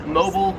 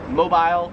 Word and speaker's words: mobile: However, in Australia, they pronounce it zebra. 29 is mobile, or as they would say it in Australia, mobile.